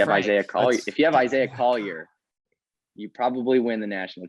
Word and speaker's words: Collier: I keep mispronouncing his name, by the way, Collier.